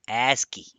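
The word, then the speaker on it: ASCII: first of all stands for or it is pronounced as asky and it stands for American Standard code for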